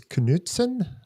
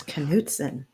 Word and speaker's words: Knutson: right date and Donna your last name is Knutson that's how my husband's family says it yes Knutson I have been saying it wrong and I apologize